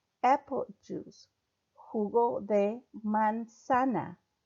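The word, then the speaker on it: manzana: juice who go they man sana man Sanna the Z is pronounced like an S who got a man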